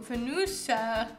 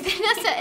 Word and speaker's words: Vanessa: Okay, this one's completely butchered. Das Vanusu. Vunesu. Vanusa. No, it's Vanessa. It's Vanessa.